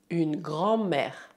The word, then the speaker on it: grand-mère: Une grand-mère. Prestez atenção no DM grand, ele é mudo.